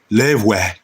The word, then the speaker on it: Loewe: what mine is today from the house of Lui or pronounced Lev. Okay. Not new way. Levi Levi the the W is a V.